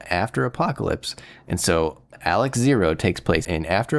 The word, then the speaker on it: XARX: I the narrator and everybody online who knows Japanese, a lot of them are saying it's pronounced Alex.